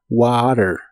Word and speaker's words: water: Así que es Enough la palabra water la puedes pronunciar con t o en inglés americano esa t la pronuncian como r water y Enough water Enough